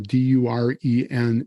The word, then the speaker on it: Duren: My name is not spelled my last name is not spelled like an 80s hair band. It's um Duran. It's or Duran. It's very German. Uh Duren is the last name.